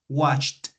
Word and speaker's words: watched: guys very good so in present watch imp past watched okay with the T explosive t watched okay let's continue with